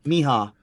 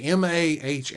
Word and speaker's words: Maha: pre-show uh is it Mayha or Maha someone helped me Miha is it Miha is how I was pronouncing it right either way m a ha a or sorry Maha you're right not Miha I think it's Maha Maha it's feathers night and